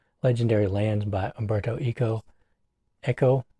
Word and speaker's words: Eco: But anyway, it is the book of legendary lands by Alberto Eco Echo. How do you pronounce his last name? echo.